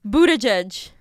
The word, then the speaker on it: Buttigieg: How do you say it? Buttigieg? Buttigieg. Okay. Buttigieg across the USA.